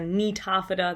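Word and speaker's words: Gnetophyta: we've got pineapple psychedephada ginkafida nitophata that that g and nitafidda is is silent um those are actually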